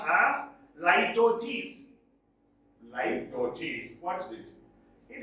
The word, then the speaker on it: litotes: This is pronounced as litotes.